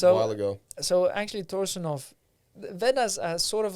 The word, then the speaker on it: Torsunov: Oleg Gennady Torsunov. Yes. That's how you pronounce it in Russian. Yeah.